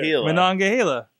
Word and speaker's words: Monongahela: Monongahela.